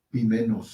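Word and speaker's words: ποιμένος: Si la palabra fuera pastor, nos encontraríamos con pimenos. Pimenos. Con el sustantivo pimenos. Exacto. Oimenos. Pero, Oimenos por el diptongo, ¿verdad? Pero, sí, pronunciamos el diptongo con una sola emisión de voz.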